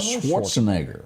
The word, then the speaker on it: Schwarzenegger: attractive in that movie she was with Arnold Schwarzenegger yep did I say his name right that's